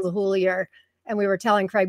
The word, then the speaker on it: LeHoullier: And I asked him just today, and he's like, no, it's LeHoullier. And on the Joe Campbell show, the Joe Gardner show, he was saying LeHoullier.